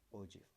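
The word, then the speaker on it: ogive: and it is known as ogf it is pronounced as orji so what are these ogfs are curves obtained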